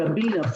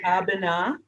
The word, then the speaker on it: Abena: And I'm glad you pronounced your name, because I was calling you Abena. So how do you pronounce your name again? It is Abena.